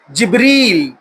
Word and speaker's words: جبرائیل: کا جو تلفظ ہے، امام قرطبی اپنی تفسیر میں لکھتے ہیں ان کو 10 الفاظ سے پروناؤنس کیا جا سکتا ہے: جبرائیل، جبرائیل، جبریل، جبرائیل، جبرائیل، ملتے جلتے الفاظ ہیں۔ اسی طرح جو ہے